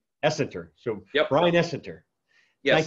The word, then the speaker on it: Essenter: So what is the correct pronunciation? Essenter. Essenter.